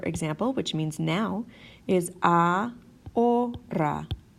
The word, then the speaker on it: ahora: So this word, for example, which means now, is ahora. Ahora. We kind of ignore that H in the middle. Ahora. Ahora. It does not make a sound.